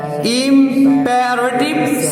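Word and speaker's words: imperative: IMPA না Impey. ই এর উচ্চারণ হয় একার, মনে থাকবে। এইখানে PE, তার মানে পে, পয়কার পে। ইম্পারেটিভ। তুমি যদি এটা পে উচ্চারণ না করো, পা করো, তাহলে তোমার PA পা হয়ে যাবে।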